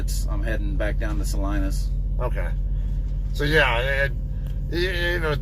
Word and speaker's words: Salina: Yeah, we pronounce it Salinas, but that's all right. I'm from and take the S off. You can go to Kansas. You're in Salina.